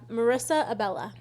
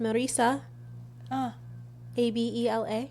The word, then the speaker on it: Marissa Abella: Yeah, Marissa Abella. Yeah, I don't know if she's Hispanic because if she is, it would be obviously pronounced Marisa. Abela.